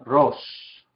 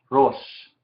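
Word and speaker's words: רֹאשׁ: Se dice Rosh, Rosh. En este caso, vemos que la Aleph es inactiva, ¿sí? Porque no tiene una vocal, ni abajo aquí, ni arriba aquí.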